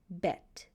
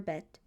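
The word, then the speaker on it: בֵּית: You should know the name of the letter bet. When it makes a B sound, vet. When it makes a V sound, the sound of the letters, you should know it makes a B for bet. V for vet.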